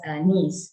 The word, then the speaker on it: Nice: spelt nice but we call it as we pronounce it as a nice right so this means classification basically has all